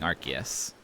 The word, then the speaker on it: Arceus: It's pronounced Arceus in Japanese, so that's what I've always used as my pronunciation guide.